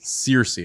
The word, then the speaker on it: Searcy: you guys this is philip how do you pronounce your last name searcy okay i didn't want to mispronounce it um